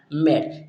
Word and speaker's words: made: Next जो आता है हमारा MADE, यहाँ पर भी जो ई हमारा होगा वो क्या होता है, यहाँ पर साइलेंट रहता है।